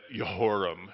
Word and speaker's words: Jehoram: But Yahweh Yireh, all the J's are Y's. If you want to really act like you're a scholar, start pronouncing it that way and say, that Yehoram instead of Jehoram.